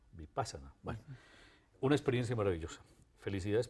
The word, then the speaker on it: Vipassana: Muy bien, Vipassana, yo lo pronuncio así, ¿cómo lo pronuncia usted? Vipassana. Vipassana.